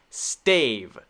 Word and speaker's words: stave: f sound staff staff the next one stave stave stave so actually this is short this is short this is long this is the long a sound right r r